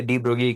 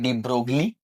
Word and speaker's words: de Broglie: हम गलत हैं। उच्चारण करें। डी ब्रोगली, यह दरअसल डी ब्रोगली समीकरण। सही। वहाँ है? जीएलआई का इसका उच्चारण नहीं किया जाता है।